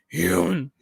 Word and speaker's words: human: You have to pronounce it like human, like like William Shatner at the end of Wrath of Khan.